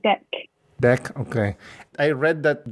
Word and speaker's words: Deq: Yeah, How do you pronounce it properly? it's called Deck.